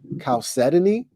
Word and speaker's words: chalcedony: was a hard word they got it on deck chalcedony calcetini i would have never guessed cows or quartz unlike